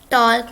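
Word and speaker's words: talk: टॉक slowly, ये टॉक होता है, टॉक नहीं होता, इसमें एल साइलेंट होता है।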